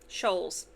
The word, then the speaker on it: Scholes: Scholes. Sorry, I I was incorrect with the pronunciation earlier.